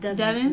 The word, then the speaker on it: Devin: It's pronounced Devin. Not Devon. I'm just saying Devon.